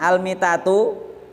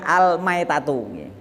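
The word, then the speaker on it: الميتة: Lafat al-mitatu diterangkan al-mitatu bacanya bukan al-maitatu yakni al-mitatu. Al-mitatu bikasril mim, dikasril mim al-mitatu, maka salah baca salah makna.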